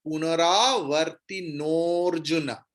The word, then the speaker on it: पुनरावर्तिनोऽर्जुन: এর মানে হচ্ছে অ, অর্জুনের জায়গায় অবগ্রহ বসিয়েছে, কিন্তু যেখানে অবগ্রহ থাকবে সেখানে অ এর উচ্চারণ হবে না। ক্লিয়ার? তাহলে উচ্চারণ কি হবে না, তার আগের যে স্বরবর্ণ আছে তার উচ্চারণটা লম্বা হবে। তাহলে পুনরাবর্তিনোর্জুনা।